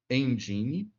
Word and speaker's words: Nginx: Vamos escrever aqui na nossa barra de busca do navegador, Engine. A escrita é assim, ó, Nginx, mas nós pronunciamos Nginx.